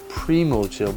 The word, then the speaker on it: Primochill: And here's another close-up of the Primochill. By the way, it is pronounced Primochill, not Primochill.